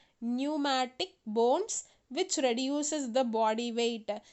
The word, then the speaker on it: pneumatic: we call it as pneumatic bones how to pronounce p is silent here pneumatic bones which reduces the body